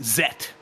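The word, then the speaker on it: Zett: Germany cuz that makes our debate of of Z versus Zed very easy it's neither of those in German it's zet uh uh he's just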